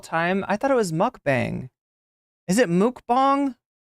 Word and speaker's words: mukbang: of all of the is it pronounced mukbang chat have I been saying this wrong the whole time I thought it was mukbang is it mukbang like